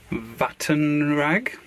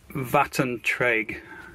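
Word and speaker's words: Vattentråg: they brought out called Vattenrag. I know, Vattentrag, to pronounce it a bit more accurately.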